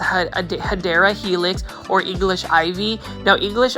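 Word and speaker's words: Hedera helix: we have everybody's favorite this is a HRA helix or the correct way to say it is a Cadera helix or English ivy now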